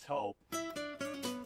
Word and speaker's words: Toop: No, I'm pretty sure it's Toop insurance. Maybe Toupee. Could be Toupee. Yeah, I don't know. Or Taupe insurance, maybe? I don't think so. Say it right. That's T-O-O-P. That's Taupe. Oh, it's Taupe.